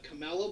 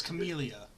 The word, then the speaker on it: Camellia: the actual name of bowl game currently the Camela bowl camellia blowing its camellia there's a lot which makes sense because at